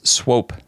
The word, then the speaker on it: Swope: And in 1st place, we got we got Clarence Swope, spelled like the Pope, but with SW instead of the P.